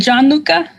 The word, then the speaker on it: Gianluca: acid okay who was is it Gianluca is that am I saying it right it is that's exactly right hey hey I think